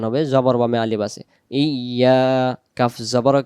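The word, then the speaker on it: إِيَّاكَ: অনেক মানুষ বলে ফেলে ইয়া কানা বুদু ওয়া ইয়া কানাস্তাইন। ইয়া কানা বুদু বললে ডিরেক্ট ইয়া থেকে শুরু হচ্ছে, সামনের অক্ষরটা বাদ চলে যাচ্ছে। এই তাসদিদটাকে এই হামজার সাথে উচ্চারণ করে ধাক্কাতে হবে।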